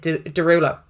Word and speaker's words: Derulo: But it's how you pronounce it, Derulo.